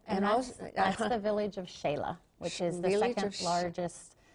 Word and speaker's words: Xela: And that's the village of Xela, which is the second largest city in Guatemala. And it's Xela, it's spelled X-E-L-A. X's in Spanish are an S-H.